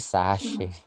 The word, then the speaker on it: sachet: Saset itu bahasa Prancisnya sachet. Karena saset itu dari bahasa Prancis. Jadi sebenarnya bacanya bukan saset, tapi sachet. Jadi jangan bilang saset.